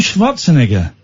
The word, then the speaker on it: Schwarzenegger: But Arnold Schwarzenegger, that's how you say it, pops up.